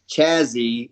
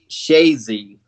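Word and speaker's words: Chazy: It's not Chazzy, it's Shazy. So I guess they pronounce it different up there, the Ah, CH.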